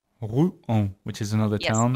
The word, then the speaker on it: Rouen: Yeah, you can't glide it. You really have to pronounce syllable by syllable. Rouen. You can't try to have it glide like the language usually does.